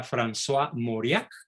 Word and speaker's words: François Mauriac: otro extraordinario converso francés se pronuncia françois mauriac se escribe francois mauriac franz o moría mundialmente conocido por su